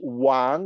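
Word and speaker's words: 王: at besides you have a character that is pronounced Wang in Chinese and its meaning mean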